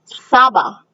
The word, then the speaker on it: saba: 7 is Saba. Can you say that? Saba is 7.